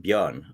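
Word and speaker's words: Björn: for for those watching how how do we pronounce your name yes uh yeah so it's it's a classic swedish name uh called bjorn uh so it's the same as beyond from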